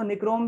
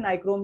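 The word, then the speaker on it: Nichrome: तो यहाँ पर देखो एक और यहाँ पर ये इसको निक्रोम भी पढ़ सकते हो, नाइक्रोम भी पढ़ सकते हो, प्रोनाउंसिएशन का फर्क है। बुक ने निक्रोम लिख दिया तो आप निक्रोम ही लिखना, मैं तो यही सजेस्ट करूंगा, लेकिन नाइक्रोम भी उसको बोल सकते हैं, कोई भी फर्क नहीं ज्यादा, उसमें मत पढ़ना फर्क।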